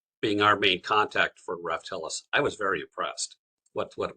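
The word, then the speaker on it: Raftelis: Yeah, Dee, if I could, how do you pronounce this contractor's name? Raftellus? Raftellus.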